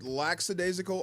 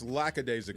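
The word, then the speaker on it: lackadaisical: you couldn't care less is it laxidasical or lacad desal the first one it's lacad desal is it yes see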